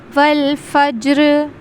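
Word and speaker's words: وَالْفَجْرِ: व फज्र को पढ़ते हुए आपने ख्याल यह रखना है कि वल फज्र में जो यह जीम आया है। यह हुरूफ-ए-कलकला में से है। इस पे हम कलकला करेंगे। यानी यहां पर आवाज बाउंस होगी।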